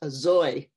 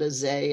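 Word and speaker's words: אַזוי: I was taught that the word is a zoy, not a zay. And I thought, oh, well, I was 5 or 6. But it turns out that's how they pronounce it in the Lithuanian dialect.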